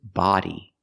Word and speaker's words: body: language is very important we don't pronounce it buddy language It's Not Buddy language buddy buddy is this word he's my buddy he's my friend but this is body use the open Sound ah like hot and stop ba body